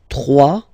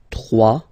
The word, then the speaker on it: trois: Trois. Final s not pronounced. Trois. Quatre.